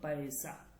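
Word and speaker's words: پیسہ: চলেন আমরা এটা দেখি কিভাবে হলো, পয়সা, পে ইয়া সিন হে, পয়সা। এটা উচ্চারণ হচ্ছে এই পে, এরপর হচ্ছে ইয়া, এরপর হচ্ছে সিন, এরপর হচ্ছে হে, এই চারটা বর্ণ মিলে এটা হচ্ছে পয়সা, পয়সা।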